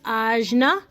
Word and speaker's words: ajna: And it's pronounced ajna.